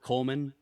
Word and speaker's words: Kollmann: Coleman, three syllables.